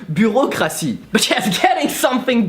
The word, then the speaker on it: bureaucratie: There's a reason why you guys have a word called bureaucracy, which in reality is just the poorly pronounced French word bureaucratie.